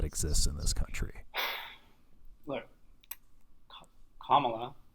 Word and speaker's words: Kamala: Kamala. Correct way to say our vice president's name is Kamala. like Like the punctuation.